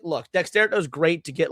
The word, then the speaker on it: Dexerto: I thought it was Dexerto. I thought there was an extra T. Hold on. Is there not? Hold on. I don't think so. Oh my God, it's Dexerto. I've always thought it was Dexerto. I thought there was two T's.